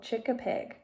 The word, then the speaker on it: chick-a-pig: And this word right here is how you pronounce it. So chick-a-pig.